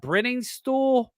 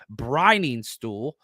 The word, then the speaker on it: Briningstool: You got Brenningstool. Let's see here. Jake Brenningstool out of Clemson. Let me pronounce this correctly. Briningstool. Sorry, again, better. We've got a pronunciation guide up. Briningstool.